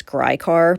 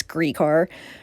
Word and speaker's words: Gricar: ray griecar you know i've been pronouncing his name wrong for years i always thought it was grycar but it's greek r ray worked as the district attorney in center